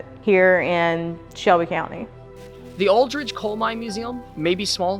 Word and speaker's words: Aldrich: i c h not Aldridge cuz we pronounce it with a G but it's not